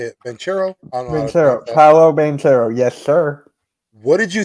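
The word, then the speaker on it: Paolo Banchero: do you say it manchero i don't know paulo bantero yes sir what did you think about that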